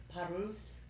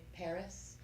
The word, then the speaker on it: Paris: you want to say my husband is from Poland so he pronounces it parus so I say Paris thank you and he